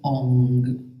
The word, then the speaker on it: Ong: okay so how we pronounce the sound ong this is very interesting how um was told by yogi bajan to pronounce this sound so he told that we don't have to pronounce it through the mouth but through the nose can you imagine so